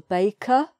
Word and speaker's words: baker: The baker ran to wrap a loaf of bread.